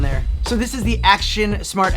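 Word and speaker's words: AOCHUAN: So this is the Action Smart X Pro 3-Axis Gimbal. Now, correct me if I'm wrong, but it's spelled out A-O-C-H-U-A-N, and I think they're going for like action, like auction.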